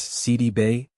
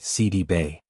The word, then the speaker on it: Sidibe: She explained that the accurate pronunciation is actually CD Bay. She noted that the name originates from Seneagali's roots carrying accents and tonal elements that are not typically used in everyday American English.